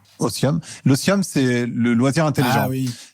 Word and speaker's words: otium: non l'ocium c'est quoi c'est un mot latin donc ça s'écrit i um ça ça se lit otium mais ça se prononce otium l'otium c'est le loisir